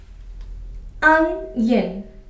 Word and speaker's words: onion: So can you guess how many syllables are the in this word unen?